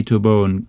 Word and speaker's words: Taobao: People say Tobo in Cantonese, and Putonghua, I don't know how they say it.